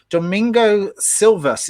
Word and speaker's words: Domingo Silvas: two years later we we carried on so domingo silvas is that the correct pronunciation of your name yes correct excellent so